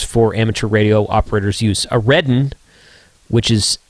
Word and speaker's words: AREDN: A redden, which is pronounced Ardan, um which is the newer firmware.